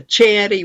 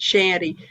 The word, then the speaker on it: chanty: You know, I always thought it was a chanty rather than a shanty, but I noticed that Paul pronounces it shanty. So I looked it up, and apparently you can either way is fine. That chanty is the number one or the most usual, but shanty is acceptable.